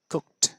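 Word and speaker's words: cooked: শব্দ লেখা দেখুন সি ও কে ই টি কুকড আমরা কুকড এভাবে উচ্চারণ করি উচ্চারণটা কুক অর্থাৎ একবারে শেষ যে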